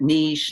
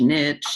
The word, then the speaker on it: niche: they don't really know how to pronounce it niche niche you know so it's a French word it means a corner